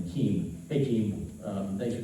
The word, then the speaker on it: Kiem: years later and they they pronounced my last name Keem hey Keem um thanks